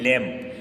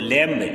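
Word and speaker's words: lamb: सबसे पहले मैं प्रोनाउंसिएशन आपको बता रहा हूँ, इसको पढ़ते हैं लैम, नॉट फॉर लैम्ब, लैम्ब नहीं पढ़ते हैं इसको, लैम्ब नहीं पढ़ते हैं, इसको पढ़ते हैं लैम। इसमें बी साइलेंट है, इसको पढ़ते हैं थम,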